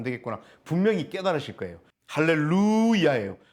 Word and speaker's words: 할렐루야: 되겠구나 분명히 깨달으실 거예요 할렐루야예요 루가 장모음 이고요 뛰어쓰기 되어 있습니다 할렐루아 이야가 뛰어쓰기 되 있습니다 이해 되셨죠 그래서 할렐루 야해요 그래서 할렐루 찬양하라고 목적으로서 뒤에 야외의 앞부분 하나님을 찬양하라 야자가 나옵니다 그래서 할렐루야입니다 정리를 하자면 1절부터 6절까지